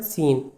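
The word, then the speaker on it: scene: हम इसे बोलते कहते हैं S double E एन सीन। लेकिन लिखते कैसे हैं? एस सी ई एन ई सीन।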